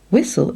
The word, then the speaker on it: whistle: Whistle, it's the T that is awkward. You can call it a silent letter, or you might say it is another way of writing the ul sound.